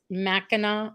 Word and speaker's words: Mackinac: Julie's saying that she loves Mackinac Island.